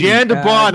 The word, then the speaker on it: Jan de Bont: Jan de Bond.